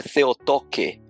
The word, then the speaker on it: Theotokos: Theotokos é a referência que se faz a uma palavra em grego, a pronúncia é Theotoke, mas escreve Theotokos.